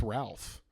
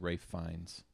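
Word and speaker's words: Ralph Fiennes: It's Ralph. He has an L in there. I I I don't think that's how you pronounce it, though. This guy? Yeah. I think it's Rafe Fines.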